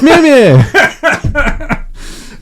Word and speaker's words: Mjolnir: By the way, Darcy, the only good thing about Thor Dark World is her mispronouncing Mjolnir. Meow meow. It's Mjolnir.